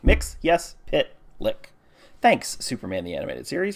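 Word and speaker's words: Mxyzptlk: pitlick makes his pit like mixiest bit like mix yes pit lick thanks Superman the animated series for teaching me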